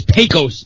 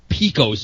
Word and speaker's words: Pecos: I was first going to say it's Pecos Bill, not Pecos Bill.